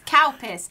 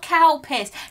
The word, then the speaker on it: Calpis: how it's actually pronounced it's calpis not cow piss cal piss i don't